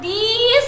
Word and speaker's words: these: See the pronunciation also you listen when we tell this. So this. But when we used to tell these, so you have to say little bit long sound.